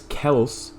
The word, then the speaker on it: Kelce: amazing with Jason Kelce, or what I originally thought it was, which is apparently right, which is Kels, apparently. That's how you actually pronounce it, according to, I think their mom said that or something, or I don't know.